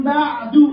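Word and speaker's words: بعدُ: Nah, mim ba'du, coba. Mim ba'du. Gimana wakafnya? Mim ba'du. Mim ba'du. Dalnya harus kita kelihatan.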